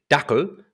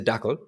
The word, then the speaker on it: Dackel: I do, however, I say Dackel because in German it's a Dackel. But in English, you call it a dachshund, even though that's like not an English word.